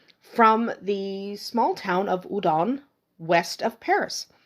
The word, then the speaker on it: Houdan: udon sometimes it's pronounced Howen or hudon but it is a French breed so udon is more correct because you kind of eliminate that H that H sound at the beginning of the word but it is spelled